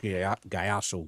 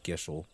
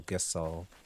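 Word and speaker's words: Gysahl: I always thought they were pronounced Gyashul greens. There's Gishul or Gisal or something. I forget what they said. But it's not Gyashul greens.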